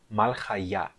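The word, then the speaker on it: מלכיא: Por exemplo, aqui nós temos a palavra malchaya. A sílaba tônica é a sílaba ya no final. Nós temos aqui 3 sílabas, mal, chai e ya.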